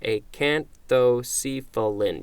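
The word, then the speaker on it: acanthocephalan: that's an L LAN a can't though see fill-in and I'm just gonna check the pronunciation a can't though see fell in yep this is a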